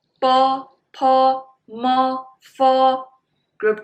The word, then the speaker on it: fo: Bo, po, mo, fo is actually English letters with a vowel sound o.